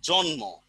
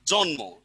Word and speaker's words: জন্ম: আর ম, কিন্তু আমি যদি এটাকে উচ্চারণ করি জন্ম, তাহলে এটা কি হবে, ভালো করে বুঝে নেন। শব্দটা আসলে কি, ন আর ম দুইটা ভিন্ন ধ্বনি কিনা, দুইটা ভিন্ন ধ্বনি। তো বাচ্চারা উচ্চারণ করে কি, ম প্লাস ম, দুইটাকে এক করে ফেলে কিনা, এক করে ফেলে।